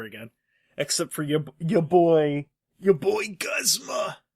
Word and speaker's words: Guzma: Except for your boy Guzma! It's actually pronounced Guzma.